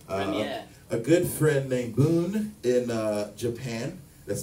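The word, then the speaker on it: Bun: A good friend named Boon in Japan, that's spelled B-U-N, in Tokyo, made a awesome Splash Woman remix for me with nothing but Game Boy sounds.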